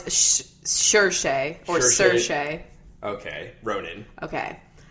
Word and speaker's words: Saoirse: Oh, it's Saoirse or Saoirse.